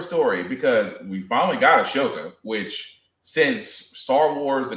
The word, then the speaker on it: Ahsoka: If you say Ashoka one more time, it's how I pronounce it. That's my girl. I need the Ahsoka to be it.